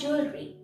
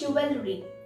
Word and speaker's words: jewelry: This is known as jewelry. And in this, the E is silent. I have heard some people say that this is jewelry, but that's wrong.